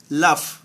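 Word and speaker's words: laugh: জি silent থাকবে। এল এ ইউ জি এইচ লাফ, লাফ মানে হাসা।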